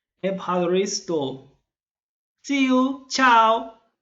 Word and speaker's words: Ευχαριστώ: thank you in greek empire store aparri store remember to cut your air in the last syllable empire restore see you ciao